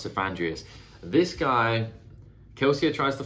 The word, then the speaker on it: Cephandrius: of a character and I think it's pronounced sandreas it looks like it's pronounced sandreas this guy kelia tries